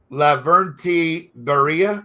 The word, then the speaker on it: Lavrenti Beria: This was Stalin's sidekick, Lavrenti Beria. Am I pronouncing that correctly?